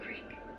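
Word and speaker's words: Craik: Crank. Not crank. Crank. Like the Scottish king. Like the Empire. Not crank like what your dick does when I whisper. Let's spell it out with letters. Hey, lovely. It's C-R-A-I-K.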